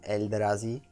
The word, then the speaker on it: Eldrazi: think they are called elder Ozzie or maybe eldrazi I'd like to call them Eldrazi although sometimes I would